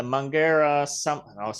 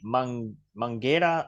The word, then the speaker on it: Mangueira: All right, the Mangueira I said it wrong again. Mangueira Samba School experience for 3D avatars.